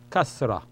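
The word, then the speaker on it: kasrah: This one is called kasra. K-A-S-R-A-H. Kasra, pronounced as kasra.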